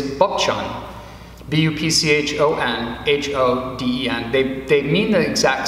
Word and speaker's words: Bupchon: The Korean pronunciation, as they know me in our Korean order, is Bupchon, B-U-P-C-H-O-N-H-O-D-E-N.